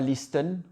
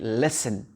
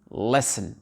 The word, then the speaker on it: listen: Ici, la lettre T, on ne dit pas listen, on dit listen, listen, listen to me. Le T n'est pas prononcé.